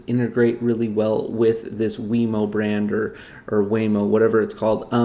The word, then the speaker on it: Wemo: industry standard that will probably be wemo i think is how they they pronounce it um and this is